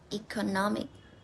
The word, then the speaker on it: economic: So, words ending in this. We stress in the second last syllable. I have some example. The first word is economic.